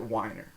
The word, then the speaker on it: Weiner: I know that if my name was Wiener and it was spelled W-E-I instead of W-I-E, like I before E except after C, I would pronounce it Weiner.